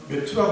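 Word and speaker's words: Matthew: 그의 이름은 마태, 영어식 발음은 메투라고 하는데 이름은 하나님의 선물입니다.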